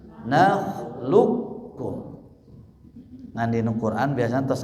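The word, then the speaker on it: نخلقكم: Bacanya jangan nakhluqakum tapi nakhluqkum.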